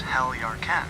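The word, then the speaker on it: Heljarchen: The name Heljarken, pronounced Heljarken, What an amazing is an city.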